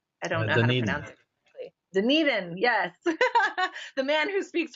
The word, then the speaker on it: Dunedin: event in a rugby stadium in how you pronounce doing it in I don't know any nothing Dunedin yes the man who speaks four languages yes